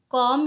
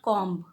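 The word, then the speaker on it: comb: do the dishes great calm your hair calm your hair but B is silent here okay so I pronounce it calm not calm calm calm your hair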